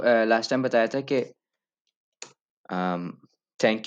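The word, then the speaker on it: tack: अच्छा, मैंने आप लोगों को लास्ट टाइम बताया था कि थैंक यू को थक बोलते हैं, लेकिन थक की स्पेलिंग ऐसे नहीं होगी, थक की स्पेलिंग सी के एच होगी, थक।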